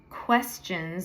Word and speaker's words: questions: I don't answer questions, like it's spelled Kweschnz. Questions, like your chin.